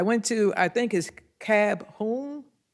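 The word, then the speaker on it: KABOOM: to I think is cab whom cab whom that's how you say it that we went to on Saturday the place we went with the girl well it's k a b h o o m all right because I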